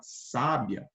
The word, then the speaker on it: sábia: sa sabia sa entendeu então esse acento agudo aqui ele vai fazer com que você pronuncie a palavra com a sílaba com mais intensidade Ok se você trocar